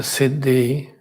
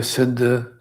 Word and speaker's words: Siddhi: Sometimes it's pronounced like a Siddha, sometimes Siddhi, but it is spelled like a Siddhi, and many pronounce as Siddhi, but then some pronounce as Siddhi, not the, but the.